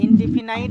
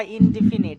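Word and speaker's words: indefinite: ইনডিফিনাইট বা ইনডিফিনিট দুইটাই উচ্চারণ করা যায় এটা।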